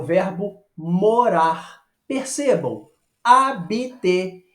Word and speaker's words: habiter: Percebam, habiter. Eu não pronuncio o som do H, como em inglês, por exemplo, né? Em horse, house, home. Não é isso? Em francês, não. Eu falo habiter, morar.